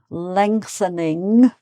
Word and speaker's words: lengthening: Lengthening. So you've got an ing sound at the end as well as the ngs in the middle. Lengthening, lengthening, like that.